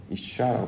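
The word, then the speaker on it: אשה: 이샤라고 발음을 하는데 그래서 하나님의 사람으로 변화된 것.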